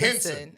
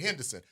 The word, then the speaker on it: Henson: Henson. Okay. Taraji Henson. Yeah. I knew it wasn't Henderson. I was about to say Henderson. P. But Henson. it's Henson.